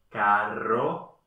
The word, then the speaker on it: carro: R fuerte. Stärker gemacht. Carro, pero. perro torre.